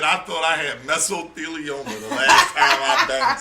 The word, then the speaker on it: mesothelioma: K-Shine's lawyer said, I thought I had mesothelioma the last time I banged somebody on their period. Mesothelioma? Okay. It helps with cramps. Listen. What? Me personally, I'm with you, MyVerse. It's not even meso, it's mesothelioma.